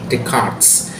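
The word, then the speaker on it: Descartes: Kalau mungkin teman-teman tahu yang tulisannya Rene Des chartes gu ya bacanya Rene decarts dan Immanuel kant dec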